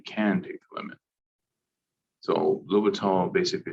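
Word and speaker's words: L'Hôpital: And this is the way you pronounce this is L'Hopital. I'm sure I'm also butchering it, but it's a French guy's last name, whatever, right?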